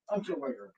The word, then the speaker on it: Unterweger: I just can't pronounce his name. Jack Unterweger. Jack Unterweger.